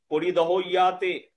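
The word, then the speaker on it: परिदह्यते: পরিদহয়াতে, পরিদহয়াতে, ভাই জ ফলা আছে না, পরিদহয়াতে, জ ফলার উচ্চারণ ইয়াতে হবে। হ্যাঁ, পরিদহয়াতে।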